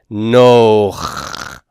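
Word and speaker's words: נח: It should be pronounced and written this way: Nun, Cholam, Chet. And as you see, that would be a one-syllable word that's closed. Consonant, vowel, consonant. Noach, Noach. But what happens here is very interesting.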